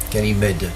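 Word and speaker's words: Ganymed: is 1036 scan mead kenny mead at g-a-n-y-m-e-d getting med getting mad that's pretty how it's pronounced getting med this asteroid is about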